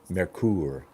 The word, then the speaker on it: Merkur: a video on the merker 34C but no I don't have one Thomas I don't have a merker 34C Merkur actually is how you're supposed to correctly pronounce the thing Merkur but you know we